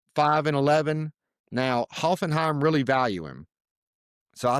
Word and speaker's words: Hoffenheim: That's how you say it, Hoffenheim.